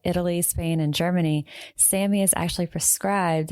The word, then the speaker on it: SAMe: So, it looks like the word same, but it's capital S A N M, lower case E, pronounced Sammy.